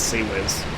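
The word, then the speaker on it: CIWS: means something else uh why is the abbreviation pronounced as sea wiz that's not how you spell it yeah closing weapon system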